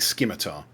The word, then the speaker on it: scimitar: I can't seem to see it, so it's It's spelled Scimita. So it's like scimitar. Yep. There we go. Just added it to the equipment. Thank you. Yeah, it's that hidden C.